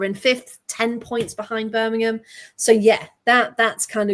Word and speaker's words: Birmingham: So, it's Burmigum. Migum City. Uh, to compare, that's pretty much the way locals say it. Birmingham.